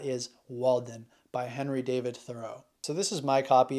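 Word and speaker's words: Thoreau: David Thor's name is actually pronounced more like the word thorough I did a thorough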